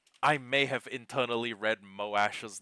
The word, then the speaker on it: Moash: Uh, mm, actually, I I may have internally read Moash's name as like Mosh. Like like if I'd like gone to sound out each individual syllable, it was like Mo Ash.